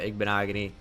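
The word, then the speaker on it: Igbinoghene: a first round pick somebody tried to correct my pronunciation of noah igbonogony and i'm just like you're actually uh wrong it's so crazy the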